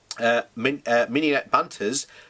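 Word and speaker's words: Minette Batters: The NUF president, Minette Banters, that's how you say it, said, "It is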